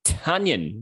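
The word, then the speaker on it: Tonyan: and then robert tanyan how taylor pronounces it tanyan like he's scored 100 in cricket and he's in injured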